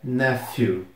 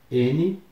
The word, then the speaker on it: nephew: Sobrinho é nephew. N-E-P-H-E-W. Nephew. Mesmo tendo esse PH, tem o som de F.